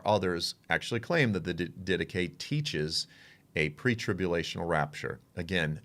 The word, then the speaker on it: Didache: The Didache, it's pronounced differently by different people, the Didache, the Epistle of Barnabas, the Shepherd of Hermas, and then the writings of Justin Martyr.